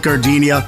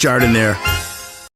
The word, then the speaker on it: Jardiniere: Hey guys, when you're at the counter, don't call it gardenia. It's pronounced Jardiniere.